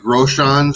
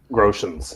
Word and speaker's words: Groshans: I apologize for not knowing the pronunciations, but is it Groshans or Groshans? Groshans, yeah.